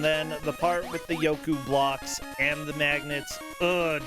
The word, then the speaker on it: Yoku: i love the random yoku block that's just what the crap why is there random yoku block i always mispronounce those as yokai blocks and and i don't